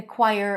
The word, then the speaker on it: choir: So we have a w sound there, choir, and then choir. But when you transition, it's like with chaos here as well. Choir.